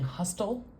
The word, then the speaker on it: hustle: is going on here do you hear a t am I saying hustle hustle no we have a silent letter in Hustle so because there's no